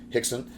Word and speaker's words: Rickson: not familiar with um the way that portuguese is pronounced so hixson uh here we go